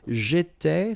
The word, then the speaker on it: j'étais: Okay, so let's take 1 minute again to pronounce them. J'étais, so final S not pronounced.